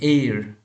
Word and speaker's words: heir: For example, let's see, an hour, an honorable person, an honorary, an heir, right? So here an hour means O-U-R, okay? H is silent now.